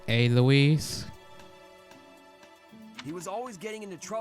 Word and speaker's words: Alois: Raphael, it's pronounced Aloise.